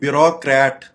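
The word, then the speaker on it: bureaucrat: आगे जो लफ्ज आप देख रहे हैं ये ब्यूरोक्रेट, इसको ब्यूरोक्रेट पढ़ा जाता है, ये जो कि गलत है। इसकी करेक्ट प्रोनाउंसिएशन है ब्यूरोक्रेट।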